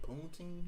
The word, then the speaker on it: poutine: Like this girl over here told me that I can get poutine here. Yeah. Then I can't pronounce it.